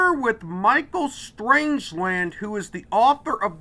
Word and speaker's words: Stangeland: says, trying to say Stangeland, it's R in there. Michael Stangeland. Okay, I got it. Okay, there's a silent R. Well, no, there's no R in there at all.